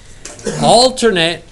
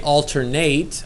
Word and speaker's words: alternate: Alternate, it's pronounced in 2 different ways. You can say alternate or you can say alternate. It's the same thing. It's acceptable both ways.